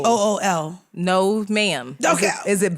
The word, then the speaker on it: bul: You spell it B-U-L, but it's not bull. BOOL.